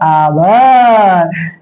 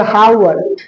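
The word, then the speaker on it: hour: C double RG मतलब कभी-कभी H silent होता है कहां पर जहां ओ के पहले एच रहेगा तो हम लोग पढ़ेंगे जैसे एच ओ यू और आवर ना कि हा एय हावर नहीं नहीं नहीं क्या पढ़ेंगे आवर जहां पर ओ के पहले एच रहा तो एच साइलेंट हो जाता है और कहीं कहीं सी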